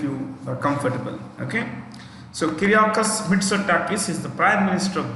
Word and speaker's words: Kyriakos Mitsotakis: So Greece's capital is Athens, Athens, Athens, and the prime minister is Kyriakos Mitsotakis. I'll spell that for you.